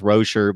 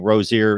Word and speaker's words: Rozier: rosier and Rocher but I keep hearing that he's supposed to be pronounced Rocher but of course we've been saying Rozier ever since we knew about the kid that basically